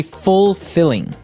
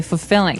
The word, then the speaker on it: fulfilling: pronunciation you don't say fulfilling no you say fulfilling fulfilling so the L there is kind of Silent kind of optional but um maybe you